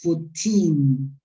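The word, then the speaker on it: fourteen: And the other one is 14. 14. Con acento en la última sílaba.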